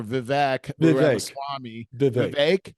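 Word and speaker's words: Vivek Ramaswamy: I hear Vivic or Vic Swami is that how you say it rhymes with cake he did a WRA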